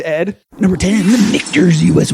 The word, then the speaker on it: Michter's: I love Mitchners. So I was just going to say, damn it. No, I've learned how to pronounce Michter's over the last year at Oh, least.